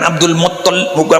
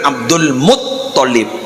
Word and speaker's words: Abdul Muttalib: Abdullah nama ayahnya, Aminah ibundanya, Abdul Muttalib saya ingin memperbaiki, bukan Abdul Muttalib, bukan Abdul Muttalib ya, tasydidnya itu ada di to, bukan di lam kan. Mereka Abdul Muttalib itu si bener Abdul Muttalib.